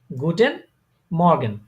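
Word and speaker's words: Guten Morgen: গুটেন, good মর্নিং কে বলে তারা গুটেন মর্গেন। এটা গুটেন মর্গান হ্যাঁ, এটা বানান করেন।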